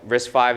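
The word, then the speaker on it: RISC-V: maybe you heard it there's something you know risk 5 is spelled as risk fee right so when Chris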